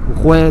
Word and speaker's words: Ujué: pero con X, digamos, Usue es la pronunciación euskera, Ujué digamos que es la pronunciación en castellano.